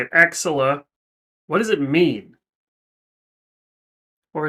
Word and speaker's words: Axilla: Axilla.